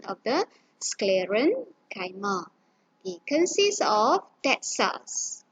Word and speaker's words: sclerenchyma: please take note the spelling and also this pronunciation of the scleron kaima it consists of that cells in that cell